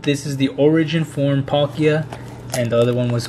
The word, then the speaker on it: Palkia: and i know i misspelled or i mean mispronounced some names and um now i know that this is the origin form pakia and the other one was origin form the